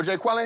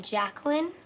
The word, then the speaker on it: Jacqueline: where's Jay Quellin net no Jay Quellin here do you mean Jacqueline ok so that's how